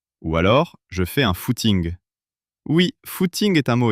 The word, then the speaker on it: footing: alors "Je fais un footing." Oui, footing est un mot étrange. Il sonne anglais mais on l'utilise uniquement en France et notre prononciation est unique. On dit le foot ing.